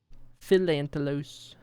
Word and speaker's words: Philantelos: How do you say my city? Philantelos? Philantelos. It's pretty straightforward.